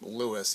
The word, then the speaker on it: Louis: Louis because he pronounced his name he pronounced his name Louis even though it's often Louie Armstrong it really matters but